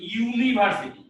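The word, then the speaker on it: university: তো ইউনিভার্সিটি, এখানে ইউনিভার্সিটির ক্ষেত্রে কি আবার ব্যতিক্রম দেখা যাচ্ছে যে ইউ মানে এই যে ওয়াই ইউ এর উচ্চারণটা আসছে, তার মানে এখানে আসলে উচ্চারণটা আসছে ওয়াই ইউ, তার মানে এইটা ইউটা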